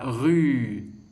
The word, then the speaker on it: rue: pour te dire que le mot rue, on entend le son rue, la syllabe rue, se termine par un E que l'on n'entend pas, un E qui est muet.